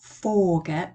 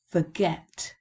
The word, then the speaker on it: forget: find quite tricky forget where's the stress forget it's on the second syllable isn't it and this is not forget but forget so there's some pronunciation